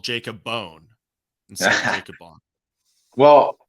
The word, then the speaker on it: Bohn: watching one of the fights and they said it as Bond. So I was like, okay. But you go with Bone. Interesting. So yeah, people Right. call me Bone, but that is not how it's technically pronounced where I come from.